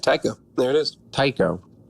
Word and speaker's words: Taiko: Taiko. Not taco, for sure. No, and definitely not Taco. All right. Tycho. So the A is silent.